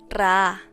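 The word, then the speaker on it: רעה: La palabra apacentar en hebreo es ra'a, con acento en la segunda A, que significa alimento, alimentar o cuidar.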